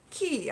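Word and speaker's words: kea: So white is pronounced ki, I believe, K-E-A.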